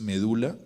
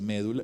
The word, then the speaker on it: médula: Por ejemplo, cuando decimos medula, hay gente que no se escribe porque toca decir médula. Y resulta que la palabra medula en medicina… Aceptaba las dos, creo.